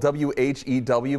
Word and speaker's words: Whew: Its name is spelled W-H-E-W, but it's just pronounced whew.